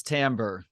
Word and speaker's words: timbre: constantly communicating with one another chapter seven is Timbre this is what music conjures for anybody who's unfamiliar and by the way it's spelled t-i-m-b-r-e what is Timbre I took a